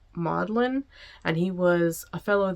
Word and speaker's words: Magdalen: It's spelled Magdalen, but it's pronounced Maudlin, and he was a fellow there from 1925 to 1954.